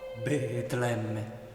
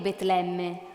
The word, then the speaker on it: Betlemme: bambino di Betlemme e quel nome Betlemme lo pronunciava riempiendosi la bocca di voce e ancor più tenero affetto producendo un suono come belato di pecora Betlemme il bambino di Betlemme